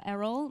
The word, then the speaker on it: Eriol: little bit about me my name is Errol it's pronounced Errol my pronouns if you